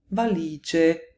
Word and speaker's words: valigie: Valigia, valigie could be spelt with an I, although they sound exactly the same.